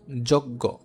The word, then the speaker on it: যজ্ঞ: এখন একটা ব্যতিক্রম জিনিস দেখো, যজ্ঞ। যদি এই বর্গীয় যে ও সংযুক্ত থাকে এবং সেটা যদি শব্দের শেষে থাকে কিংবা মাঝে থাকে, তাহলে শব্দটা হবে গ হস গো, গ হস গো।